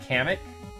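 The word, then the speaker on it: Kamek: there anywhere where they it's pronounced like comic cam kamik you pronounce it kamik oh I promise it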